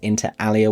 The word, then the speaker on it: inter alia: Yes, I know it would be pronounced INTER ALIA with the Latin pronunciation.